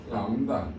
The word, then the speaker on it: 람다: 뭐라 읽어? 람다. 뭐라 읽는다? 안다요? 그리스 문자예요. 람다라고 읽어요.